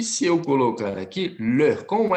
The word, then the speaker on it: leur: Leur. D'accord? Lembra lá quando a gente fala professor, aquele sufixo EUR? Professeur. Então, você vai pronunciar o mesmo sufixozinho lá, tá? Um sonzinho de er com um biquinho, ler. Com um biquinho, leur. Ou você pode falá-lo assim, ler com biquinho, leur.